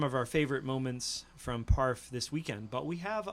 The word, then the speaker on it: PARF: And PARF for those in the know, that's right. which rhymes with park, which rhymes with barf.